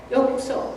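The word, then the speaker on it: ようこそ: And in Japanese, how do you pronounce this? yokuso.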